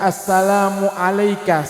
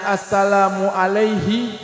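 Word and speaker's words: السلام عليك: salam kepadamu wahai nabi kalau ada orang yang salat yang Dia membacanya Assalamu Alaihi maka tidak sah salatnya tapi membacanya assalamual Alaika kalau asalamu Alaihi itu artinya salam kepadanya tapi kita bacanya Assalamualaika salam kepadamu yang seakan-akan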